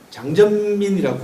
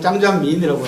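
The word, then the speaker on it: 张占民: 그리고 99년도 운 좋게도 병마용갱 발굴 대장을 지낸 장전민이라고 하는, 중국 발음으로는 짱장민이라고 하는데, 장 선생을 만나게 돼서 두 사람이 이제 저하고 이제 우정을 나누게 됐습니다.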